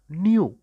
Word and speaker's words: knew: They knew, KNEW வந்து நோவோட past tense, no அப்படின்னா தெரிகிறது. அதை எப்படி வாசிக்கணும், பாஸ்ட் டென்ஸில் எப்படி வாசிக்கணும் அப்படின்னா கே சைலண்ட், அதனால் அதை ப்ரொனவுன்ஸ் பண்ணக்கூடாது. நியூ, என்இடபிள்யூ எப்படி வாசிப்போம் அதே மாதிரி வாசிக்கணும். நியூ, they நியூ basic, they